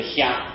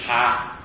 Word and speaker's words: 蛤: 看看呢，这个字有两音啊。例如这个虾啊，草虾的虾，那是念作虾子。可是这里这个蛤蟆的哈不念作虾，念哈啊，就是住那个哈哈笑的虾哈哈那么应当是念成蛤蟆了，可见这